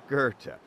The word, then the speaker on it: Goethe: On Goethe, sounds like it's spelled. In Chicago, and Astor, the now Astor Club, in the Astor Tower on Astor Street in the Astor Street District.